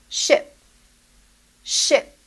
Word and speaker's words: ship: a big sheep so the transportation is pronounced with a short e sound ship ship and the animal is